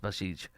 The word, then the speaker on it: Basij: The Basij, I think it's pronounced Basij, B-A-S-I-J.